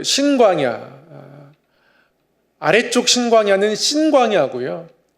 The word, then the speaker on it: 신광야: 지난주에는 그 신광야, 아래쪽 신광야는 신광야고요. 위에 쪽 신광야는 정확히 발음하면 진광야입니다. 우리말로는 시옷으로밖에 표현할 수가 없겠는데요. 약간의 발음 차이가 있긴 합니다.